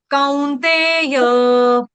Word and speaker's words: कौन्तेय: एतई विमुक्त, एतई विमुक्त कौन्तेय, कौन्तेय कौन नहीं, कौ, कौन्तेय, कौ, य, य, कौन्तेय कौन्ते नहीं, कौन्तेय, COW, काउ, कौन्तेय, कौन्तेय कुंती माता है